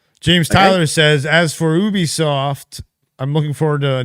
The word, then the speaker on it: Ubisoft: It is Ubisoft. I just pronounce it how it's written.